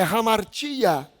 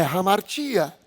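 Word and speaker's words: ἁμαρτία: Essa palavra pecado, no grego, é hamartia.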